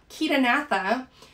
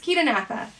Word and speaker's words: Chaetognatha: talking about the phylum kitanatha now i do pronounce it with a k sound that's because that ch does make a k sound so it's not chair right it's ketonatha um then we're gonna